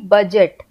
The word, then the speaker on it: budget: तो साउंड तो ये आ रहा है BUGET, बजट, लेकिन हमने ऐसे नहीं लिखना है, हमने लिखना है BUDGET। तो यहाँ पे डी जो है वो साइलेंट हो गया।